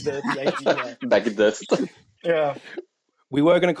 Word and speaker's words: Baghadoust: I like the way Adnan was pronouncing it, like Baghadoust, like it sounds like a bag of dust, and I like the idea. Baghadoust.